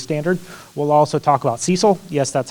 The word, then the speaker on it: CECL: the new lease standard we'll also talk about cecil yes that's how we pronounce it cecl um so that's current expected